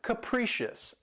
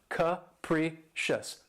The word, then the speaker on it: capricious: of my favorites, is capricious. And this word has 3 syllables, and the stress is on the second syllable. And keep in mind that first syllable has that schwa sound, that capricious. Capricious.